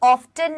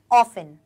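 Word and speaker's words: often: भी देखो इसे हम ऑफ्टन नहीं पढ़ेंगे इसे हम ऑफ्टन नहीं पढ़ेंगे इसे हम क्या पढ़ेंगे ऑफेन क्या पढ़ेंगे बेटा इसको ऑफेन okay so वी गो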